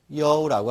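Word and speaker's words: 酉: 음은 유, 발음은 여우라고 합니다. 여우라고 합니다.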